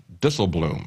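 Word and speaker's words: Dijsselbloem: of Eurozone Finance ministers Jurgen disobloom I believe is the way you pronounce his name is Dutch but what he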